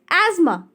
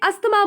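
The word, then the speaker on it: asthma: First है एज्मा। इसका correct pronunciation है एज्मा। लोग इसे अस्थमा बोलते हैं, अस्थमा भी आप बोल सकते हो, बट इसकी जो करेक्ट प्रोनाउंसिएशन है, सही उच्चारण है, वो क्या है? एज्मा।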